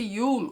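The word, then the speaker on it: Yule: a palavra na tela Então esse Yul ou j aí depende a pronúncia vai ser um pouquinho diferente a depender aí do país Enfim então essa festividade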